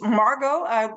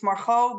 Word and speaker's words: Margot: My name is Margot. Without the T is a better pronouncing. In Dutch it's Margot, but I can understand it's a little bit hard for people outside of the Netherlands. So Margot is good.